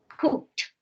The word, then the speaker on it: cooked: Cooked. Very good. Remember the ed sounds like T, no? Sounds like a T.